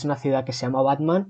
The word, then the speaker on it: Batman: No sé, creo que técnicamente se pronuncia como Botman o algo así, pero sé que es una ciudad que se llama Batman y que denunció a Warner Brothers.